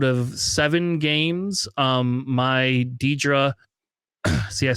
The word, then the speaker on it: Dedra: I do will tell you that out of seven games, um, my Dedra, see, I said it right.